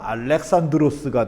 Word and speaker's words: 알렉산드로스: 이게 왜냐면요 그리스식으로 발음하면 알렉산드로스가 돼야 되거든요. 만약에 이거를 영어식으로 발음하려면 알렉산더가 돼야 돼요.